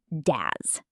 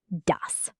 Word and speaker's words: das: The s at the end of dos is a soft s, not a z sound. Ds. Not daz. dus.